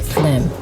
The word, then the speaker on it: phlegm: know the other day i found out that phlegm yeah yeah is spelt with a ph is it flim phlegm is spelt with ph what spawns plenty